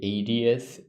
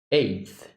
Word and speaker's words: eighth: Eu pronunciei 80th quando eu estava pronunciando. Então, eu estava realmente pronunciando 80º, eu acho. Define 80º. Oitagésimo. O aniversário de 80. Não, achei. Basicamente. Quando eu queria estar pronunciando eighth.